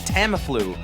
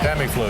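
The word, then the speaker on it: Tamiflu: There was more suspense watching Britney try to pronounce the word Tamlu than in announcing a pregnancy. Hilarious scene in which Leslie Nielson confuses his something with his Viagra. Tamlu. Tammy flu.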